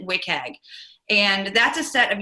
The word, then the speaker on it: WCAG: content accessibility guidelines which it's abbreviated WCAG we pronounce it wick egg and that's a set